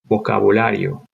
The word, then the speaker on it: vocabulario: Vocabulario. Vocabulario. The sound at the beginning may throw you off because the V's sound like B's, vocabulario.